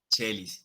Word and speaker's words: caelis: se escribe también caelis como se pronunciaría caelis charles igual chelís igual está listo después viene